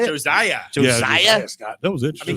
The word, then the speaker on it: Josiah: Josiah.